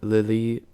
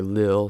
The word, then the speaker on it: Lille: a playoff monaco and lily uh or lille sorry that's how you say tide zero zero and